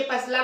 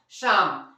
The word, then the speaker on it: psalm: पर क्या रियली ये पसलम है, डेफिनेटली नहीं गाइस, इसे हम लोग पढ़ेंगे क्या, शाम, SA मतलब PSALM, इसे हम लोग पढ़ते हैं शाम। क्यों, कि यहाँ पर पहला जो है क्या साइलेंट है, P।